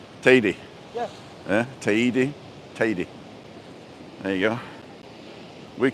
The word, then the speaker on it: Teide: Because in Spanish you have to pronounce every letter. So if it's T, was it T-E-I-D-E? It would be Te-I-D. Okay. Teide. Teide. So I suppose when you hear it, it does sound like lady.